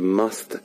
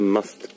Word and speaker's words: musth: It's called the musth gland, and that's spelled M-U-S-T-H, M-U-S-T-H, musth, and it's where the